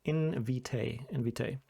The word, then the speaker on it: Invitae: And you can see it's pronounced Invitae.